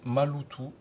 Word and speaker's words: maloto: Par exemple, maloto prononcé malutou. Le lot s'entend plus fortement que ma et le ta malutou.